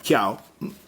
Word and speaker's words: Jiao: 2 Chiao, 2 Chiao, o Jiao se escribe en pinyin, pero sería Chiao, del Banco Central de China.